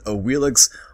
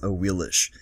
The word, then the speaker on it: Awilix: very much so requested a wheel --ax or better pronounce as a wheel ish so let's go right